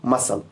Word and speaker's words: muscle: अब यहां पर देखो मसल में जो S है, S के बाद C है, क्योंकि पहला रूल अगर S के बाद C होगा तो C साइलेंट होगा। यहां पर भी मसल में S के बाद C है तो C साइलेंट रहेगा, मसल।